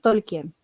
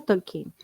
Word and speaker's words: Tolkien: se produce a Talking nosotros decimos tolkien pero se pronuncia tolkin De hecho yo tengo